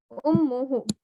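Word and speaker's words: أمه: But when we want to say ummu, his mother, we will just say ummuhu. No extra wow.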